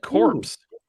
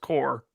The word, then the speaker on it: corps: orange orchard who said corpse you did you called it battle corpse oh i i know it's pronounced core that was uh i